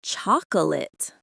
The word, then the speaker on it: chocolate: Another four syllable word that is almost always reduced to two syllables. Chocolate. The key here is that the middle o and the a sound completely disappear into a quick h sound or sometimes vanish completely. It's chocolate. That final syllable is quick and weak.